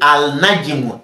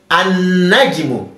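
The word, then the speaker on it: النجم: We are no longer saying al-najmu. Al-najmu. We said an-najmu.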